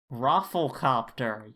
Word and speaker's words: Rafflecopter: Rafflecopter. You gotta pronounce it. I was putting the L before the F.